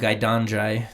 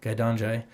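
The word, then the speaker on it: gai daan jai: of it oh really it's called gaidanjay there which means little chicken egg i probably pronounced that all up but gaidanjay g a i d a a n j-a-i guy don joy i think that's probably as close as i'm gonna get it but uh and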